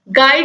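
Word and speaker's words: guide: गाइड में दोस्तों silent है यू, तो ऑप्शन ए जो है ये राइट आंसर हो जाएगा, इसको आप याद भी रखिएगा।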